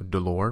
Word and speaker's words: dolor: word for pain so dolor means pain and also rhymes with the number four so of course you'll